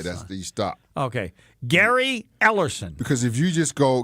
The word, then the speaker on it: Ellerson: uh can I just you got to pronounce my name last name all the way through because if you don't people think I'm somebody else didn't I say Gary ellerson no you you stop at the e l l e r